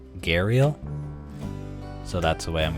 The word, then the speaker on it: Gharial: We're doing the Gharial. Gharial? I should look up how to pronounce that. And with a quick Google search, I have found that it's Gharial.